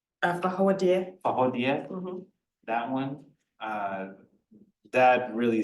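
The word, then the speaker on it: Fawohodie: Is it pronounced Bahudi? Fahodia.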